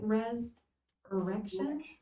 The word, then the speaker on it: Res-Erection: Well, thank you so much for showing us that backdrop of Hades for Res-Erection. Am I saying it right? Res-Erection?